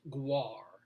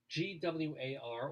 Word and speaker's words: GWAR: band i don't know i think it's pronounced guar g-w-a-r all capital letters you heard of him